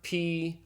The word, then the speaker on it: pi: Now, I know if you've learned math, you called it pi, and that's fine if you're learning math, but this is Greek. And this letter is properly pronounced P, just like the English P.